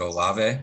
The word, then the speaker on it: Olave: Is it Olave? Olave, yeah. Yeah, so that's not Olave. Yeah, I was never sure how to pronounce it.